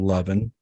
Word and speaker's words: Levin: It's pronounced exactly how it's spelled, Levin. Levin.